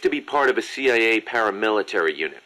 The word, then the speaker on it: CIA: goes how to pronounce c-i-a you kidding me really around here they say la sia instead of c.i.a huh um nothing strange about it that's how it's pronounced when you read it in spanish it has the feminine